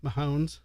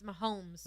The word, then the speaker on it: Mahomes: like I know Sports say his name again Mahones it's Mahomes hones with an Mounds